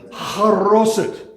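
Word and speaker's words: charoset: This is called haroset. If you look it up on the internet because you like it, it's spelled charaset is the way it's spelled. But it's haroset, and it's an apple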